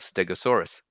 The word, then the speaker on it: Stegosaurus: Next up, we have Stegosaurus, quite a popular dinosaur with all its spikes. Again, four syllables, steg, o, saw, us. So quickly, Stegosaurus.